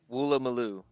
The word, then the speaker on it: Woolloomooloo: Woolloomooloo. Woolloomooloo.